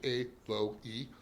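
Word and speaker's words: aloe: or a low like many people call it a low but I believe it is actually a low E it's three syllables four letters or three syllables pretty amazing but when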